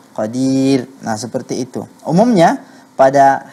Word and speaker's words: قدير: Ah, itu dibaca tarqiq kalau kita berhenti pada qadir.